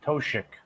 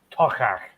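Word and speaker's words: Toiteach: So people pronounce it that way, and then you try to tell them, well, it's actually pronounced either Toshik or Tochach, depending Well, it's on like Second one you're doing sounds like Tuchus.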